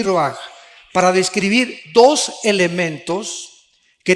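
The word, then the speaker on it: רוּחַ: Se pronuncia roaj. Por ejemplo, cuando hablamos del Espíritu Santo, el Espíritu Santo es roaj, el kadh.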